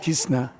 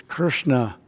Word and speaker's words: Krishna: of the mouth for Krishna. That's the real you know not Kishna. I've heard I've had god brothers you know it's Krishna but you know anyway.